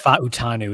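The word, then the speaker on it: Fautanu: I think it's Fa'utanu is the official pronunciation that I recently heard.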